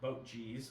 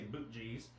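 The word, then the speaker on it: Boetje's: was this I never had this before it's pronounced boat G's or we say boot GES for fun uh but this is a Dutch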